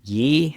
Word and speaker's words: Ye: I guess he's Yee. Is it Yee or Ye I mispronounce everything. Um, um, uh, it should be yay though.